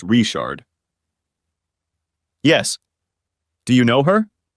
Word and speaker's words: Richard: In Cajun country, Richard is pronounced Richard.